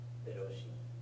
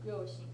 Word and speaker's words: 両親: Hiroshi. Ryoshin, yeah.